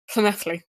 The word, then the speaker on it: Llanelli: It's pronounced Llanelli. Okay. If you say so. I'm not good with languages. Double L is Double L is pronounced. You kind of push your tongue against your teeth and blow through it, kind of pronouncing a sound, and that's how double L is pronounced in Welsh.